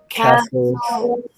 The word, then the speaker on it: castle: what to say because you only hear soul. So the T is silent in this final stable syllable, which will be the only time you ever cross out a Excuse me? Sorry. Which will be the only time you cross out a letter in a final stable syllable, but it is pronounced soul.